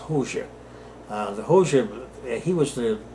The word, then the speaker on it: Hoxha: So that's spelled Hoxhaist, Hoxha, but it's pronounced Hoxha.